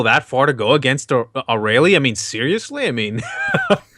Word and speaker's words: Arale: There's the Japanese way is Arale. Mm-hmm. The dub pronounced her Arale.